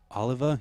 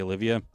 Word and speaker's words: Oliva: Oliva? Yeah, Jay Oliva. Did I say it wrong? Did I say Olivia?